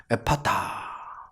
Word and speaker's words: 에바다: 드러내고 있습니다 그리고 말씀하십니다 에바다 이는 일 이라는 뜻이라 에바다 앱 아다는 요 아람어 입니다 정확히 발음하면 에 파타 에바다 알아보는데 마가는 이방인들을